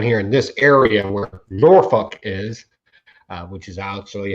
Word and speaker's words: Norfolk: here and down here in this area where norfolk is uh which is actually how we pronounce it he's very particular about catching the